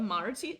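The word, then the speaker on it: Maróczy: Even Lichess calls this Maroczy.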